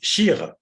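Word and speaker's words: שיר: Vous ne dites pas shir, vous dites shir, comme s'il n'y avait pas de yud.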